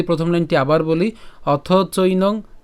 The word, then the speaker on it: চৈনং: এরপর চৈনং, চৈনং ঐকার আছে বিধায় সেজন্য চৈ উচ্চারণ হচ্ছে, তাহলে চৈনং। এরপর নিত্য, নিত্য কেন?